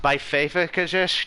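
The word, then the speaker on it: Backpfeifengesicht: But it's pronounced Beifefegesicht or something like that, and it means a face in need of a fist.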